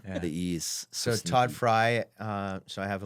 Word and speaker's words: Frey: mess up everybody awful everybody calls us Fray because that's the way you grammatically pronounce it yeah and he's like it's fry and I'm like I'll